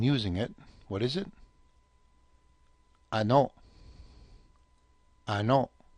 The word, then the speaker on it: ano: Ano yan? Ano yan? In fact, ano is often pronounced almost like any. Okay, ani, ani, ano yan?